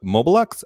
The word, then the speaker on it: Mobelux: the show Rob is the brand director of mobilux I should ask about that is that how